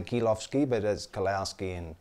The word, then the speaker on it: Kilowsky: in lucky it's pronounced keel offski they pronounced it the Oh W kil o WS KY and o W is like an F in Latvia or Poland so they say ghilaf ski but as Klaus key